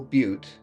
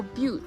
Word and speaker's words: Butte: We started hiking down Eagle Butte, and when we came to 70 Mile Butte, we turned onto that trail. I think maybe it's pronounced butt. No, Butte.